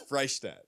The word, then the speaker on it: Freishtat: It's Freishtat.